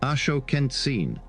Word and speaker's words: Axoquentzin: Axoquentzin, pronounced Ashokentzin, rushed forward as a warrior.